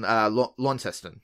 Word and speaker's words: Launceston: Yeah, so you guys are in Launceston, yeah? Yes. Yeah. Yes. And pronounced correctly, so well done there.